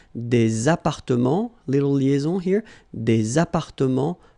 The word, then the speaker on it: appartements: Remember, final S and final T are not pronounced here. Des appartements, little liaison here, des appartements en copropriété.